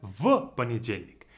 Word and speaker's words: в понедельник: first one, for example, в понедельник. I don't pronounce it as в понедельник. It kind of all comes together. В понедельник. And в sounds like F.